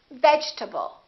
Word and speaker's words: vegetable: in this case the E is dropped we don't say vegetable a lot of my students say vegetable or veget this e disappears and this a is reduced because it's part of the unstressed syllable and we say vegetable vegetable let's look at a